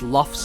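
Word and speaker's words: Lugh: I have seen people talking about how, like, I pronounce Luff's name Luff, and I pronounce Ray's name as Ray, despite the fact that if I were to be consistent, it would be Rafe.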